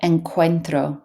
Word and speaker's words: encuentro: This word here, encuentro, so a CU is a K sound.